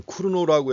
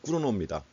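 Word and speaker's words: Cournot: 그래서 여긴 쿠르노라고 했는데 발음은 또 영어식으로 발음해놨어요. 발음을 아예 그 영어식으로 다 하려면 끝까지 영어식으로 하든지 아니면 원래 본래 이름을 불러주든지 해야 되는데, 또 쿠르노라고 이렇게 불러놨습니다. 어쨌든 간에 꾸르노입니다.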